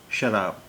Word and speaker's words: शराब: कुछ लोग उर्दू लफ्ज़ों के उच्चारण या प्रोनाउंसिएशन पर ध्यान नहीं देते हैं। देखिए, एक लफ्ज़ है शराब।